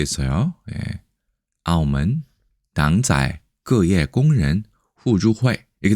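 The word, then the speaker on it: 澳门: 귀엽게 쓸 때는 발음은 아오먼인데 아오먼이 무슨 뜻일까요?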